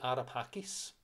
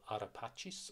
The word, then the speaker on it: Ara Pacis: reopened it's what it seemed he built the ARA Pacis the ARA Pacis or ARA Pacis depends on your pronunciation the altar of peace he built in